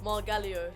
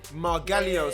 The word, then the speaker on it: Margallo: Margallo, yeah? Yeah. Did I pronounce that right? Margallo. Margallo.